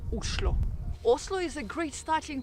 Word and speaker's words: Oslo: And actually, in Norwegian, the right way to pronounce the name of the capital is Oslo.